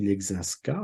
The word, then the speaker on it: Leszczyńska: Alors on dit en français du XVIIIe siècle, on va l'appeler plutôt Marie Leczinska, on simplifie un petit peu la prononciation des termes polonais.